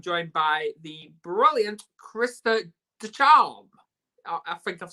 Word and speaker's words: Ducharme: I'm joined by the brilliant Krista Ducharme. I think I've said it right. Close enough. Ducharme.